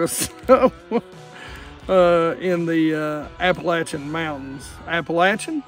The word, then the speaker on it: Appalachian: Appalachian, not Appalachian. We live here, we know how to say it.